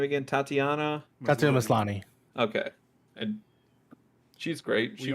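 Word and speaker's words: Tatiana Maslany: see how this goes and how do you pronounce the lead actress's name again tatiana mislani okay and she's great she's also good eric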